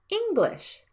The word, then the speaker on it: English: unstressed vowels for example English has two syllables and you need to stress the first vowel like English and fortunate has three